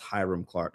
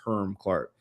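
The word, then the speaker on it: Hiram Clark: Um, and again, by the way, for those out there, it's not pronounced Hyram Clark. It's Herm Clark.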